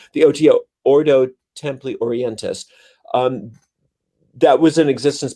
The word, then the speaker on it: Ordo Templi Orientis: co-opted the um the oto the order temp ordo temple or templar orleans oh i said it wrong the oto ordo templi orientis um that was in existence before he kind